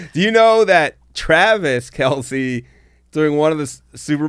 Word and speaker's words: Kelce: you know that Travis Kelsey doing one of the Super Bowl pressers just all of a sudden announced that the name is Kels but no one's ever honored it I remember that but